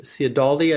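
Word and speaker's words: Cialdini: Cialdaldi, I believe is how you pronounce it, and he's a professor out in California.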